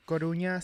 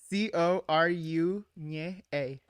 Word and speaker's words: Coruña: Because Coru, the N with the little thing on top. yeah. Nye. And Cour nye. Fuck, I just fucked up again. Coru nye a.